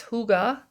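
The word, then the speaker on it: hygge: the little book of what looks like hi to me but it's Huga and that's the Danish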